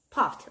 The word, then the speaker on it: puffed: 그래서 이렇게 그 단어 끝소리가 fu로 끝이 나면 우리 ed 발음은 t로 하는 거야. 왜냐면 발음하기가 더 편하고 더 부드럽기 때문에. 그래서 이제 끝소리가 fu로 끝나면 t로 ed 발음은 t다.